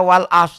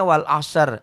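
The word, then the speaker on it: والعصر: Makanya kadang-kadang banyak orang yang salah. Ustadz kadang-kadang. Wasama idati roje. Nggak ada. Roje.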